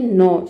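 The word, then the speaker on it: gnaw: देखिए, सबसे पहला वर्ड है नौ।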